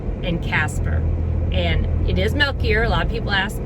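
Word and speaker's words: Melchior: all of christmas lake it is balthazar uh melkier and casper and it is milkier a lot of people ask well i don't know if that's the correct way that's the local way but milk choir is sometimes how it's pronounced and another thing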